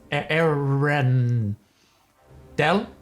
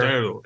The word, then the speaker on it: Arendelle: Aaron. Del? Yes. Aaron. No. Aaron is here. Arendelle. It is 3 syllables.